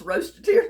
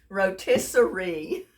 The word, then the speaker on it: rotisserie: And I've got a lot of people in my videos commenting on the way I pronounce roast-a-tear chicken. Rotisserie. Y'all laugh with me, okay?